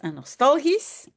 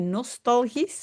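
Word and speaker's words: nostalgisch: Attention la S à la fin on prononce bien s nostalgis. Encore toujours lorsqu'il évoque sa jeunesse. Ah oui, c'est pas Nor mais nostalgis.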